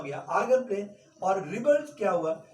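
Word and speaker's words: Argand: लोग बोल सकते हैं आर्गन प्लेन। ठीक है, डी साइलेंट है, आर्गन प्लेन।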